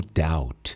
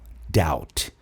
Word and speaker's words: doubt: Presta atenção no doub. Esse B não é pronunciado. Você nunca vai falar doub. Não, doubt é como se acabasse no T. Doubt.